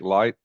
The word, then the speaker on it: Leicht: estate realtor today I have with me Jake light founder of flip secrets and real estate investor